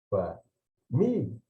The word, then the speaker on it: família: Família. Né? Eles verão que a sílaba forte é aquela em que eu dedico mais tempo, né? E produzo uma maior energia vocálica, né?